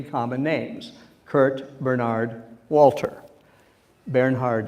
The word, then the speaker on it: Bernhard: Bernhard and Walter, if I'm pronouncing them in the German way.